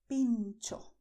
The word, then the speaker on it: pincho: This other variation is in the Basque language that is spoken in some regions in northern Spain, but the pronunciation is always the same, pincho.